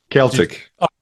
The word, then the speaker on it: Celtic: Celtic. Celtic. Sorry, yeah. That's all right. Celtic is a football team, but they did used to pronounce it the other way.